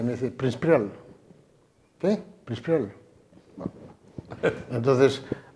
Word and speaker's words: Príncipe Real: Príncipe Real es Prince Prial. 2. De 5 sílabas, 2.